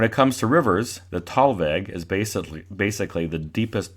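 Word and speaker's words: thalweg: it should be pronounced fallweg t-h-a-l-w-e-g but it is typically pronounced talveg the podcast away with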